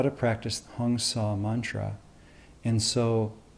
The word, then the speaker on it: Hong Sau: how to practice the hyung saw mantra and so the pronunciation is hone saw and the thing about